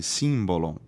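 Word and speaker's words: σύμβολον: grego que quer um símbolo long-run na verdade se escreve s y m b o l o n simbolon do grego significa é um objeto que é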